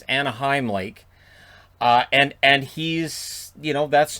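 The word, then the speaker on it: Anahim Lake: I've heard it pronounced Anaheim and Anaheim Lake. It's Anaheim Lake.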